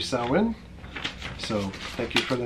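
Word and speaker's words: Samhain: let them know that we're saying it wrong. It should be Sawin. So thank you for the note and the correction. The only time I can think of when we said Sam Hain, I could swear it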